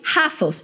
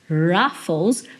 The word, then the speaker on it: Ruffles: como Rafa a batatinha eu falei rafas em vez de Ruffles porque no inglês esse R Inicial o som de R tem esse ele é um R